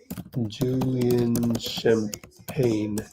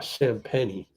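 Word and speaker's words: Champagnie: Julian Champagne. I think he's one of those guys that doesn't pronounce it right. because it's obviously French. Oh, I thought they Oh, there is champenni. Oh, champeni.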